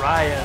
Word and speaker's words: Raya: Raya. Raya, sorry, we were saying it wrong.